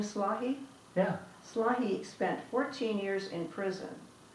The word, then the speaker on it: Slahi: Slahi spent 14 years in prison without really being found guilty of any crime.